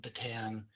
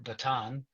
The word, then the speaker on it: Bataan: I've come to learn to pronounce it properly. Batan, Kurrigodor, Prisoner of War. Yeah, it's one of those things. It's uh teaching an old dog new tricks. I grew up saying batan.